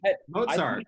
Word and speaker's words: Mostert: Mozart.